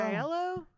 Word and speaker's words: Aiello: couldn't figure out how to pronounce his last name. I really couldn't. It kept throwing me off. I was like, Danny Aiello or Aiello? Aiello. Danny Aiello.